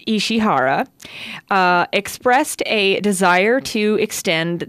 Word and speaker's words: Ishihara: In a recent interview with Famitsu, I believe his last name is pronounced Ishihara, expressed a desire to